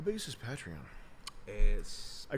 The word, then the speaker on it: Patreon: Because it's patron, so it should be Patreon.